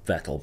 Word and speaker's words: Vettel: It's pronounced Vettel, but the 2007 Canadian Grand Prix is definitely